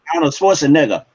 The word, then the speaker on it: Schwarzenegger: Now let's say it right. Arnold Schwarzenegger. Arnold Schwarzenegger.